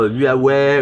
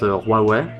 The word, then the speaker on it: Huawei: Tout le monde dit encore en France, ils disent encore Huawei ou. Ah oui. Mais donc ça se prononce Huawei pour votre audience.